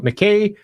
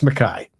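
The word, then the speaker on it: Mackay: Um, and uh, for those of you that have the name Mai and you're over in America and call it McKay, that is not how we pronounce it in Scotland. It's Mai in the same way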